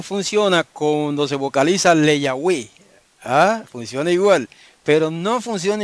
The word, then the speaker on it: Yahweh: Ahora vamos a coger la palabra Le Yahweh. Si usted le quita el prefijo Le, ¿cuántas sílabas le quedan? 2 sílabas. 2 sílabas.